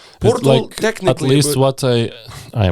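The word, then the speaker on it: Pöltl: Is it Portl, like, Portl, technically. At least what I watched the video on YouTube, but it's not like from Austrians, I don't know, but it's like turtle, like Portl, yeah, okay.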